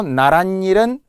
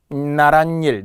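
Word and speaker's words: 나랏일: 참고로 나란 일은 나란 일 니은니은 발음이 나며 고유어 고유어니까 시옷이 들어가고요.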